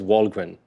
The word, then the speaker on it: Wallgren: out there uh my my last name is Walgren that's how you pronounce it in English yeah that explains the